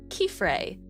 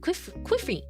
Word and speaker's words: Kifrey: Before the anime, I said Kifrey, like Kif from Kifrey. Kif from kitten and Frey from Freya. Kifrey. Oh, I guess I always read it like Quifrey. I say it like Kiefrey.